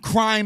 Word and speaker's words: Crhime: We've got Crime Eternal, CRHIME. That's the Just homie. Yeah, that H is silent, I think.